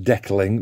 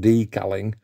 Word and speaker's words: decaling: uh and uh I do some deckling not decaling deckling is spelled Echo uh for the last